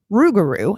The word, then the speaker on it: rougarou: them easier to pronounce the name of the beast changed from lugaru to ruguru and it has three or four different spellings but phonetically the one that makes the most sense is r-o-u-g-a-r-o-u he supposedly lives in